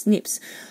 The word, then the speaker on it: SNP: of those units are snps pronounced snips or short for singular